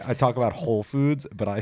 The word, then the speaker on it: Whole Foods: just like freaks out you don't even say the W in Whole Foods it's just like a silent W that's so funny my